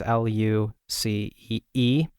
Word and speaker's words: Luce: I don't know if it's pronounced Luce or Lucy. It's Lucee, but it's Italian for light.